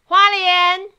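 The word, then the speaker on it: Hualien: So, this time it's a video from, I don't know how to pronounce it, I'll let my girlfriend do the job. Haulien!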